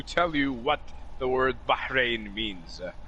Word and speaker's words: Bahrain: You know, it's like you burnt your hand, and you're running for cold water, and there's probably something in your throat, so you're like Bahrain. No, it's not like KH, it's not it's Bahrain. No. Not a you don't have to say it's Bahrain.